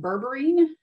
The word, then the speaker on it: berberine: started asking uh it is the so it's pronounced berberine and it is a plant extract that comes